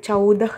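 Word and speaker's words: चौदह: அடுத்து சாவோட அவு சிம்பல் இருக்குது, சவ் த இஹ் சவுதஹ் அப்படின்னா 14.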